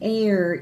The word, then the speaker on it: heir: An heir is a relative of yours, somebody who's related to you.